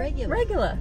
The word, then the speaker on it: regular: Regular. Regular. Regular. Regular. But you don't say it that way. Regular. Regular. Regular. You pronounce your R.